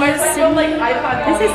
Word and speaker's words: Sydney: My name is Sydney. This is Sydney. It rhymes with kidney.